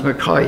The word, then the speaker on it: McKay: married a fellow called McKay she mck a white funny notice Allah's pronounced McCauley okay untrue spelt McKay and he was always known as McCoy you know he was